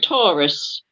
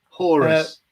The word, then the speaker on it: Horus: Would you say his name is Taurus? Horus. The dogs, the male dog's Horus, and this is Pippin.